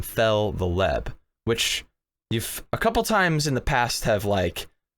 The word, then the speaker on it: Feltheleb: I've come to really enjoy Feltheleb, and it's not like Fel and then the Leb, like it's like three separate like strange words put together. Oh, that's how it's pronounced, is Feltheleb.